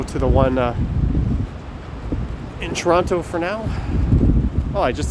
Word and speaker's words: Toronto: to say toronto yeah you don't really pronounce a hard t on toronto you either pronounce it as like a soft d i guess toronto or you you just skip it actually i don't really